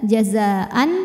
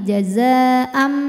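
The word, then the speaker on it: جزاءً: Kemudian ada hukum iqlab karena ada tanwin fathah menghadapi huruf ba, maka cara bacanya bunyi n, bunyi tanwin diganti bunyi mim sukun. Jadi bukan jazaan tapi jazaam m ya. Disertai dengung, jadi ditahan. Jazaam bima.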